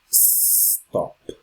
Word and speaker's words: stop: kisses kids for example the word stop this sound is quite strong right stop there is no e in the beginning stop is stop it's stop stay and this quiz